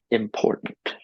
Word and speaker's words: important: So in the word important, you say im and nt at the end with low force, no stress. Pour is high stress.